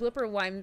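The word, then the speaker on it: Wooper: And Chillmonger says, Whooper rhymes with Looper.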